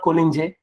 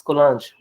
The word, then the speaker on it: Collange: The Jean-Pierre Collange and Collange, they are French people, so it's not Collinge, it's Collange. That's how you pronounce in French words.